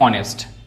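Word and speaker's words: honest: नेक्स्ट है silent H. जो जो वर्ड हमारे साइलेंट रहते हैं वो भी समझते हैं। जैसे एच यहां पे साइलेंट रहता है। इसको पढ़ते हैं हम ऑनेस्ट।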